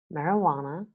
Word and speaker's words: marijuana: and jelly here are two example words in which the J is completely new the first one is marijuana and the second one is the personal name Juan from Spanish okay marijuana and WOM okay that's